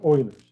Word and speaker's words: Euler: euler's method orders method it looks like euler but the pronunciation is supposed to be oilers all right so again